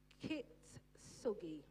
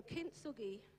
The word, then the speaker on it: kintsugi: Kitsugi. Now, you see, this is why you shouldn't put things up that you can't pronounce. Amen? But it's the principle. It's the process. So, kintsugi, from broken to invaluable.